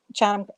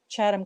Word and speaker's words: Chatham: But I pronounce it the English Chatham, the American Chatham Curse.